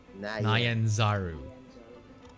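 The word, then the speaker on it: Nyanzaru: it's it's yeah it's that's not neons reason I ins are the pronunciations its nyan sorry I I read it as neons I'm yeah tends to happen so I spoke nyan nyan nyan Zaru for those of you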